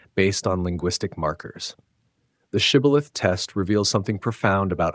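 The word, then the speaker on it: Shibboleth: but allies or neutrals, the guards ask them to say one word, shibilith. The word probably means flowing stream or ear of grain, something common every day. But the pronunciation reveals tribal identity. The Ephromites cannot form the shush sound correctly. Their dialect renders it cibilth.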